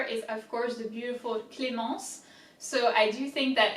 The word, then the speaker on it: Clémence: So as you can see, there's the accent on the E, which indicates that you have to pronounce E. Clé. Ment. Se. I-N is en. Clé. Ment. Se. Clémence.